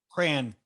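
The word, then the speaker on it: Crahan: proper way to say his last name again cran Cran uh drummer Joey jordison and bassist Paul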